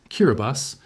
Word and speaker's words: Kiribati: first time, is pronounced Kiraabas because in the Gilbert language, the sequence TI is pronounced like an S sound.